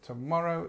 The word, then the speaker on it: tomorrow: just have a look the stress is on the morrow and this T is our schah and remember this schah sound happens when we don't stress a vowel so tomorrow because it's